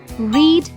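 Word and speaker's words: read: कट fit late put रीड सेट एंड स्प्रेड इज the same word as the base form हा ever note that the word रीड is pronounced as रेड इन the past participle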